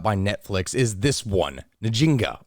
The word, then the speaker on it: Njinga: Netflix is this one nijinga or Jinga there's actually a number of different ways that you could pronounce the name and also hundreds of different variations apparently of how the name is spelled so it's very hard